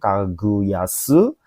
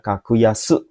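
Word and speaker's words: 格安: Jadi itu bacanya kakuyasu. Hai kakuyasu ini bacanya memang unik ya. Dua-duanya dibaca dengan kungi gitu ya.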